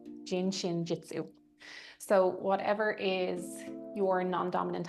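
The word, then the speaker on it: Jin Shin Jyutsu: I'm probably going to butcher the name, but it's uh it looks phonetically like it's pronounced jin shin jitsu. gin shin jitsu.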